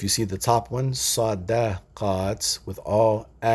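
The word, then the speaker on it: صدقات: So sadaqaat, many forms of charity, is pronounced with all fatha, all sounds, sadaqaat.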